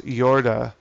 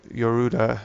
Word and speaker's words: Yorda: As he searches the castle, he comes across Yorda or Yoruda, it's pronounced in Japanese, a captive girl who speaks in a language different from his.